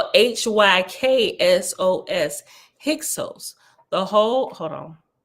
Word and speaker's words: Hyksos: Okay, so right here, Hyksos, this whole nation was styled Hyksos, Hyksos, that is shepherd kings. For the first syllable, Hyk, according to the sacred dialect, denotes a king, as is Sos, S-O-S, a shepherd.